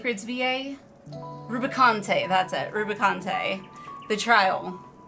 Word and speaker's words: Rubicante: Rubicante.